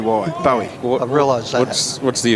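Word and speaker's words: Bowey: tick for me yeah I was thinking Barry would be spelt with an A at the end that's all like David Bowie yeah but oh this is P owy bo w ey Bowie I realized that's what's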